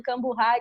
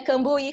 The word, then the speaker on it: Cambuhy: do meu sobrenome, porque já me chamaram de tudo, Camburrai, Camburri, porque é Cambuí com HY no final.